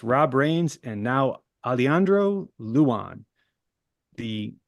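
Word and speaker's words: Luján: his name love it alandro Luan and that's how they that's how they told me to pronounce it Luan l u j an from West Virginia this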